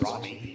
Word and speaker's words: Roni: Moffitt, Christy Trow, Dykstra, Roni Bolton, pronounced Robbie, Natalie All right, Swan, we're going to try to get a camera to the finish line.